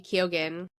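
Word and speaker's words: Keoghan: you say his name Barry Ken kogen Bar kogan yes you'll be seeing that's prediction you'll be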